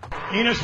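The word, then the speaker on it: Enos: Enus rhymes with Venus.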